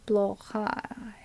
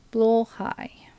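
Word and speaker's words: Blåhaj: not very oh should be more or right blow High alright so I'm going to ask YouTube to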